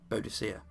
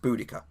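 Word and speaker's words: Boudica: any group any venue just say uh bodhia and one of them go it's pronounced buddika but I think that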